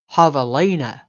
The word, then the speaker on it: javelina: Ha-ve-li-na. And in South Texan, pronounced javelina.